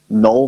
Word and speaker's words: NVLL: It's called Null Music, but it's spelled all culty, so it's NVLL Music.